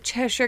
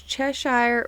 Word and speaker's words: Cheshire: Also, a fun tidbit is, in case you wondered if it's Cheshire or Cheshire, Cheshire is actually the correct pronunciation if you are British. If you are American, Cheshire is just fine, but we want accuracy here, I guess, with its British roots, so that's what we're going with here.